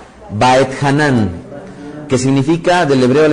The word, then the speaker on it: Vaetjanan: semanal que se llama backhanan pronuncian por favor by hanan que significa del hebreo